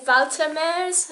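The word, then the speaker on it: Walter Moers: is a rumor by walter murs or valtameres apparently you're supposed to pronounce it i'm sorry to my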